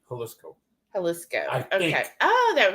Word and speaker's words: Jalisco: I think they pronounce it like the city, Jalisco.